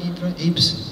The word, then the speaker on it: Ypres: Is that pronounced right, Ypres? Ypres.